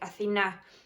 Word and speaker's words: Athina: My name is also Greek, Athina. In English it would be pronounced as Athina.